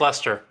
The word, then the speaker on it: Leicester: It's pronounced Leicester. Yeah, it's just Leicester, but that's if you're actually fucking English. That's if you're actually English and not lived some in New England.